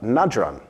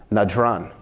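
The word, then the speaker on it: Najran: revolves around a group called the Christians of nadram nadron thank you sir najron hopefully my pronunciation is a little better all that Arabic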